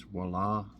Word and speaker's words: Voila: It's spelled V-I-O-L-A, but it's Voila. And I'm pretty sure that's how you pronounce it.